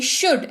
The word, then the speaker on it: should: में यूज होता है शुड, SHOULD। एल साइलेंट है तो शुड पढ़ेंगे, और ये बहुत ही मतलब आसान है इसको याद रखना।